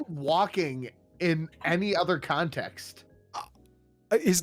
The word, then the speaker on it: Walken: You don't pronounce Okay, it Wagri. say walking in any other context.